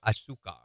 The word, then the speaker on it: azúcar: Here in the United States, or azúcar, as it's pronounced in Spanish, here in the U.S., it's made with corn syrup, which is not good for you anyway.